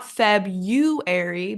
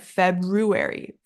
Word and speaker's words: February: need that February February we need that r r that R sound not febuary but February Feb it's so hard